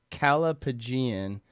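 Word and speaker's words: callipygian: It is pronounced Calapagian, and the definition is a word dedicated to describing a perfectly shaped buttocks.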